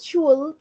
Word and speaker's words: should: sh recuerden la pronunciación no decimos should con l sino que decimos sh quitando la L y agregando solamente la